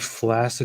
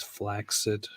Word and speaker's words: flaccid: Did you know that the word flaccid is actually more accurately pronounced as flaccid?